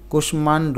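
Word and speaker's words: কুষ্মাণ্ড: হয়েছে এর কারণ হচ্ছে কিছু সংস্কৃত শব্দ আছে যেগুলো ব্যতিক্রম কুশমান্ড এটা পুরাটা ভেঙ্গে লিখতে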